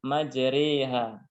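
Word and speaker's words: مجريها: pertengahannya yaitu E dan Bismillahi majreha itu fathah tapi dia dibacanya imalah atau miring maka menjadi majeriha artinya antara fathah dan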